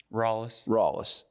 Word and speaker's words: Rallis: Rallis. I hear it a million different ways. What's the proper Greenville pronunciation? Rallis.